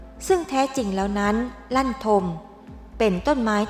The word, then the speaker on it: ลั่นทม: บ้าน ต่อ เนื่อง จาก ชื่อ ของ ต้น ลั่นทม ก็ ยัง ออก เสียง คล้าย กัน คำ ว่า กระทม ที่ แปล ว่า ความ ทุกข์ ก็ เลย มี ความ